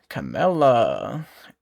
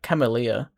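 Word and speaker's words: Camellya: So, the next one we should have is Camela. Every ending leads to a new All right. No, someone commented the correct way to say it. I've been saying it wrong. It was like chameleia.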